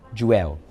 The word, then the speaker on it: jueu: Jueu, right?